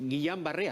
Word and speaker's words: Guillain-Barré: tiene nada que ver con el síndrome de guillan barré así se pronuncia garra embarre pero sobre todo cumplir además